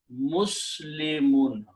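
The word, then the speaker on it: مسلمون: beginning, okay, and then I pronounce this as mim combines with the sin, mus, kasra under lam, and a 2 dhammas, which is the sound of noon, and pronounce this word Muslimun, and we stop, we say Muslim.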